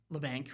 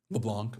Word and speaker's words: LeBlanc: But um yeah, but but he was Lebank, right? Did I say his name wrong? Leblanc.